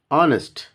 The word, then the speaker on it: honest: ఇన్ the same way an honest man, honest, how to spell this one, honest man, an honest man, h is not pronounced.